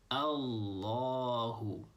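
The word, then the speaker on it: الله: like an o sound Allahu instead of saying Allahu Allahu you're holding the L A little bit longer you're saying Allahu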